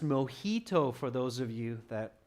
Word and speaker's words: mojito: And it's pronounced mojito for those of you that aren't sure.